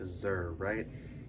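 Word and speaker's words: zir: hope i'm pronouncing that z-i-r that's pronounced azer and chris ripper i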